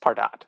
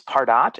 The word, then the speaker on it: Pardot: for more information so let's look at some pardot history first i want to start off the bat by saying that pardot is pronounced pardot as i've been saying several times i know